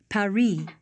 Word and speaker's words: Paris: France before yeah well the locals pronounce it Paris Carmen's conducted a lot